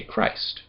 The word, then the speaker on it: Christ: Christ with a ch, we don't actually pronounce it as a normal ch, we don't say ch, we say Christ. It's a hard ch. It's a hard c sound. It's not an actual ch sound in English. So we say Christ, not Christ.